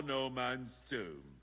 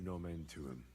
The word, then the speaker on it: nomen tuum: You're saying it wrong. Listen. It goes like this. Pater Noster, qui es in celis, sanctificetur nomen tuum.